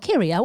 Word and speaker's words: Kyria: Is it Kyria or Kira? How do you think you pronounce that? Kyria? Oh, Kyria. What a lovely name.